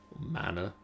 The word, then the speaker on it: mana: So then I need a rune of mana. Mana. How do you pronounce that, Sian?